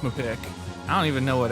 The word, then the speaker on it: MPIQ: we'll be reviewing mpiq i believe it's pronounced mepic is this a tomato or tomato kind of situation no it's definitely just pronounced my pick i don't even know